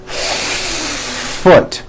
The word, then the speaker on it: foot: the f clearly and it sounds like foot that's no good let me show you what you need to do first think of the word as having two beats one two hold the f sound for the first full beat foot like that do it again foot